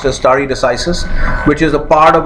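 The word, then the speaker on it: stare decisis: understand or remember is story decisis this is pronounced istari decisis which is the part of a longer latin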